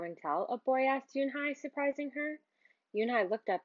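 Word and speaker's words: Unhei: uni the girl asked scrunching up her face o ooh oo nay some kids chanted no noai said it's spelled you n he e i it's pronounced Yuni oh it's Yun the boy said like you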